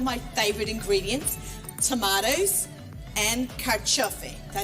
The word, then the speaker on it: carciofi: So I love Italian food, and we're going to make something today with two of my favorite ingredients, tomatoes and carciofi.